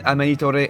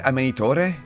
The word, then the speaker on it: Amanitore: And when Amanitore enters... Did I say Amanitore? She's not Italian. Amanitor.